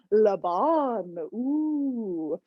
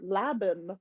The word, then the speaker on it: Laban: going to focus on labon or laven or laban however you'd like to pronounce it i think it's labon all right we'll talk